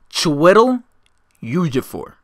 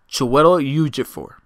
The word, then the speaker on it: Chiwetel Ejiofor: Chiwetel Ejiofor. Chiwetel Ejiofor. Again, Chiwetel Ejiofor. If I'm not mistaken, that's how you pronounce their names.